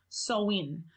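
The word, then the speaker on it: Samhain: dates back to the ancient Celtic Festival of soin so it's actually spelled if you look it up it's spelled sa ma che I n so a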